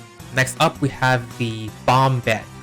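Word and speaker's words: Bombhead: Side note, I've always pronounced the name as Bomb Bed, but then I thought maybe we're supposed to pronounce it as, the word bombed. But then I double checked on the wiki and yes, I was right from the beginning. We're supposed to pronounce it as Bomb Bed, like bomb head.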